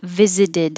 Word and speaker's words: visited: wow that seems weird visited the t in the middle changes to a d and then the d at the end connects to the u so it really does sound like visit us that's a lot of